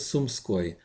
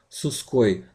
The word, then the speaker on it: Sumskoy: This is not Suskoi, not Sumoski.